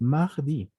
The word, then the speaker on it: mardi: Y ese es mardi. Mardi, normalmente nosotros es más difícil sacar esa R, ¿no? Mardi, mardi, pero es como decir una G.